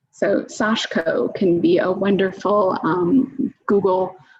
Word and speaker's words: sashiko: Yeah, so some people pronounce it sashiko. The few people I have heard pronounce it, sort of speaking Japanese, have pronounced it more like sashiko. So that's what I go with, but it could be a regional accent and I could be leading you wrong.